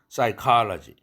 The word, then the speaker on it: psychology: psychology, psyche 할 때 프사이가 아니라 싸이, 프는 소리 내지 않습니다.